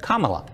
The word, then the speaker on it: Kamala: mispronouncing her name but says it's easy to remember just combine comma with law and you get kamala